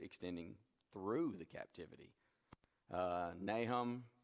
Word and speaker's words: Nahum: through the captivity uh nahum probably more accurately pronounced nahum but we just we kind of i've always grown up here in nahum and it's just hard to get out of that habit habakkuk you know